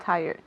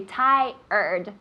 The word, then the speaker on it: tired: perfect so good pronunciation especially with tired Thai red we say Thai heard tired tell me tired very good tired this little ER sound it's not very natural tired we say tired very good so this